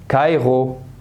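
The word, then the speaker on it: Kairo: بس انا اقول لك يا صديقي العزيز، لما تلاقي حرف الار ده وراه حرف متحرك اللي هو الاو، الاو، الاي، الاي، هتنطقها اغ. هتنطقها ايه؟ اغ. كايغو، كايغو.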